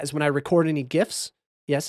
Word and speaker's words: gif: when i record any gifs yes it's pronounced gif it's not jiff like the peanut butter i don't care you're